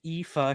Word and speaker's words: Aoife: Our first one comes from Aoife, pronounced Aoife.